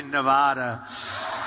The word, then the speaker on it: Nevada: I said when I came out here, I said, nobody says it the other way. It has to be Nevada, right? And if you don't say it correctly, and it didn't happen